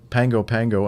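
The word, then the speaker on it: Pago Pago: the rainmaker hotel in pango pango american samoa uh spelled p-a-g-o-p-a but some reason it's pronounced pango um was the first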